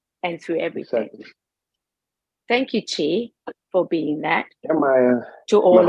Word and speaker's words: Chi: force the energy okay it's a cheese chi right so it's spelled c-h-i is that correct so it's Chi thank you I appreciate